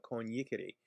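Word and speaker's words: coniicere: The verb is actually con yikio, con yikere, and it should be spelled with a double I, C-O-N-I-I-C-I-O, C-O-N-I-I-C-E-R-E. But they're not spelled that way.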